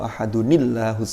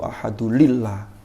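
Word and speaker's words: أحدٌ الله: Ada orang yang keliru, bacanya Qul huwallahu ahadulillah. Saya tanya, loh kenapa kok bacanya lillah? Lah saya dengarnya begitu. Ada yang baca Qul huwallahu ahadullah, wah malah keliru juga. Harusnya gimana? Qul huwallahu ahadunillah. Karena nunnya itu adalah aslinya tanwin, yang karena digabung lalu ketemu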